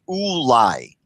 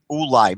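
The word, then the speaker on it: אולי: lamid and there there's no question that it's pronounced ulai oolai meaning that verse 5 it can only be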